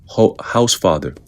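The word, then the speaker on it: Hausfather: Quote, "The consensus is definitely shifting toward an even stronger event," said Zeke House Father. And the house father is spelled H A U S and then father, a climate scientist who is closely following El Nino model projections.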